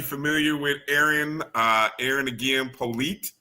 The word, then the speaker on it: Polite: So just to kind of give people who might not be familiar with Eryn, Eryn again, Polite is how you say her last name.